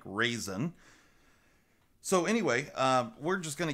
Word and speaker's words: Ruixin: called the raisin pro I did not know how to pronounce that word until some of the viewers actually explained to me how this Rui Xin is pronounced and it is pronounced apparently like raisin so anyway we're just